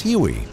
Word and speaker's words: Huey: quickly developed a nickname derived from its designation of 81 which came to be pronounced as Huey the Huey first entered